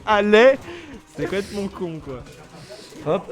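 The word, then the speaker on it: allaient: C'est chose qui est complètement conne parce que ça se prononce aller.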